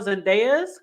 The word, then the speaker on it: Zendejas: of Steven Fibs and his name I believe is pronounced Noah Zandez and there was a